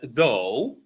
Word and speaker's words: though: So through uh though, thought. So when they are written with in red, that means that they are not pronounced.